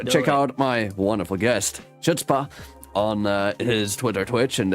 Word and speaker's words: Chutzpah: That is IZ Chutzpah, spelled CHUTZPAH, or Chutzpah. Yeah. With the proper pronunciation.